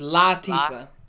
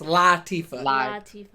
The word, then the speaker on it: Latifah: her name is Queen Latifah it's not good is lotta Queen Latifah clean let's see I think I pronounce it Lottie for though no it's not luck it's not low its Lottie for so yeah you see